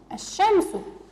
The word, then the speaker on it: الشمس: الشمس، الشمس. لاحظوا معي صغاري، هل ألفظ اللام في كلمة الشمس؟ لا، اللام لم تلفظ، نحن لفظنا الألف وذهبنا مباشرة إلى الشين، لم أسمع حرف لام في هذه الكلمة.